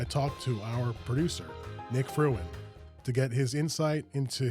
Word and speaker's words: Frewin: that we introduced Nick fruin what is up what's up man hello I was kind of worried you going to say my last name wrong what people do they say free win I don't know yeah